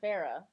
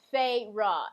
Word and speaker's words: Feyre: So Feyre, I think I've been calling her Farah. Whatever, y'all. Her name is spelled F-R-E-R, okay, F-E-Y-R-E or F-R-E-Y-R-E. Like, bitch's name is Feyruh, F-A-Y-R-U-H.